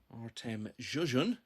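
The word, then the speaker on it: Artemijs Žižins: 4 o'clock session will be Alfie Burden against Artem Zhuzhin, as I've been told today it's pronounced.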